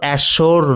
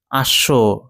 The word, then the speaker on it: ashore: ঠিক আছে, তারপরে ashore এর মানে হচ্ছে উপকূল, আর উচ্চারণটা লক্ষ্য রাখবে, এটা কিন্তু অ্যাশোর নয়, ashore।